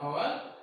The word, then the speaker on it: hour: These are all the example started from the consonant letter, but the sound is vowel. The sound is vowel because first letter is silent when we are pronouncing.